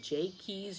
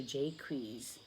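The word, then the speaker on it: Jaques: you like it and it looks like Jacques but he says that they pronounced it jakey's or Jake Ruiz back then so I'll just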